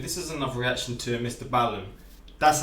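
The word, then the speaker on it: MrBallen: This is another reaction to Mr Ballen.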